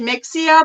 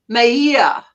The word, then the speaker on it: Mexia: town is oh okay I would have said Mexia but you say pronounce Mahia Mahia oh right even like